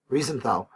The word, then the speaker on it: Riefenstahl: called Leni Riefenstahl, I better say it properly, Riefenstahl, to make movies of his great rallies and so on.